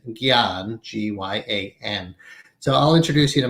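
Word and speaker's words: jnana: called in sanskrit gyan in the west often spelled j-n-a-a which makes you want to say janana but the proper transliteration pronunciation is gian so i'll introduce you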